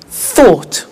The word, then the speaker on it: thought: spoke tell told think thought watch that again o u g HT ought write wrote okay so